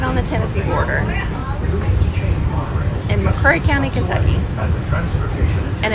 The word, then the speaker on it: McCreary: the Tennessee border, in McCreary County, Kentucky. And it's spelled M-C-C-R-E-A-R-Y. So a lot of people pronounce it McCreary County. But if you're from there, it's McCreary County.